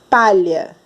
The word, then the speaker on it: palha: A mesma coisa é na palavra palha, o H não tem som.